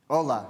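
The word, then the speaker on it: Hola: ago um also hello Ola right H right yeah so you guys this should this should resonate uh where do you think the Spanish comes from right why do you think the H is silent right um so why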